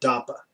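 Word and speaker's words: DAPA: is which is why they called it tapa also because it rhymes with Dakin it's easy to remember I guess that way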